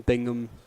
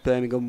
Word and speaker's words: Birmingham: up you got uh brandon bingham uh birmingham warming up yep that's how you say it brandon birmingham warming